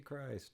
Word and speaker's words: Christ: So Christ, not Now it's Strong. pronounced Christ. I'm so sorry. No, I cannot get this right. I say because it's spelled like Christ, so when people see it, they just say Christ.